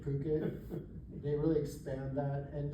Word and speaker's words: Phuket: But it's interesting, they do the same thing where they really expand the Phuket, or it's spelled fuck it, but it's pronounced Phuket.